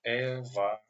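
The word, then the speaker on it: эволюция: So together it's pronounced like evoluция.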